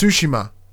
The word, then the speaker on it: Tsushima: It's Tsushima.